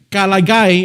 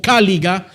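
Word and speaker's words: caliga: Por eso ellos usaban estas sandalias especialmente llamadas kalagay, hermanos. Así es como se pronuncia en en el latín o cáliga en el español.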